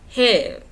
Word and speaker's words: heaven: Yeah, and yet by heaven. It's like heaven, but he made it into one syllable. Like if you look at the original poem, there's like an apostrophe in heaven.